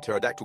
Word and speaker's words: pterodactyl: you ever hear at pterodactyl go to the bathroom because the p is silent haha and what do